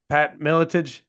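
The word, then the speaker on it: Pat Miletich: me make sure I say the name right Pat milage you said it right okay good when you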